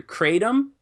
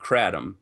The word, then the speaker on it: kratom: You'll generally hear it either kratom or kratom.